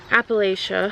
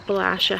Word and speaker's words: Appalachia: live in Pennsylvania um Appalachia or Appalachia however you want to pronounce it and also it's